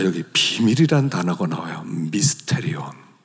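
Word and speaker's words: μυστήριον: 미스테리온. 그 무스테리온 이렇게 발음하기도 하고요.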